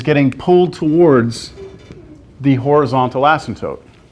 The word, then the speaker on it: asymptote: Asymptote. That's a weird word. It's spelt weird. It's pronounced weird. A-S-Y-M-P-T-O-T-E. Asymptote. The P is silent. Asymptote.